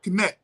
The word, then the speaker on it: Kemet: It was just S-T, Set, right? Or Kemet was K-M-T, Kemet, right?